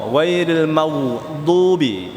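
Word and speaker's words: غير المغضوب: itu salah ya ujung lidah kita di langit-langit pengucapan l langsung bunyi d el D ghairil magdubi ghairil magdubi alaihim wad enam harakat dulu baru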